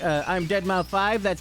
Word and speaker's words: deadmau5: he said that his it's actually pronounced dead mouth five he was like uh I'm dead mouth five that's how it's actually